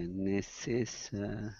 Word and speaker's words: necessary: So remember the rule here, this one, A-R-Y, when we have the suffix A-R-Y, we're shifting two syllables to the left.